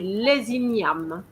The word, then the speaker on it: les ignames: But because the E doesn't have an accent, so we're going to stop at the M. Inyam. Inyam. And of course, the S is silent as well. And we're going to have a compulsory liaison here.